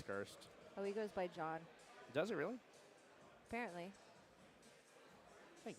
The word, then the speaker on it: John: So pronounce John. So not Gian. John.